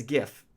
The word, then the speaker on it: GIF: pretend you're sitting there there's this gif that's how it's pronounced because Jeff is a brand of peanut butter so you need to have a different pronunciation it's a heat camera